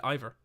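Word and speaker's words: Iver: Oh no, but they pronounced it earlier in the game and they said Ivor. It was actually they said it. They said Ivor. So that's why I'm pronouncing it like that.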